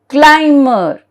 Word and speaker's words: climber: Sometimes B is silent when M is in the middle of the word. See, M is in the middle of the word. Now let us see what is that. See, 1, 2, 3 and 1, 2, 3. So it is in the middle. M is in the middle. So climber. Okay, B is silent. Climber. Plumber.